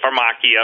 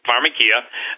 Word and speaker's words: pharmakeia: and then weird as pharmakeia some people pronounce that for machi but pharmakeia in other words they're